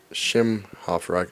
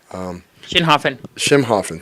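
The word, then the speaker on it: Schinhofen: Easley, Commissioner Easley, and Commissioner Schimhofer, I pronounced his name wrong. Sorry, Dan. Schimhofen, thank you.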